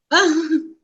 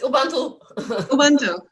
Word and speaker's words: Ubuntu: I was not pronouncing it right. Ubuntu. She goes, it's Ubuntu. So for I don't even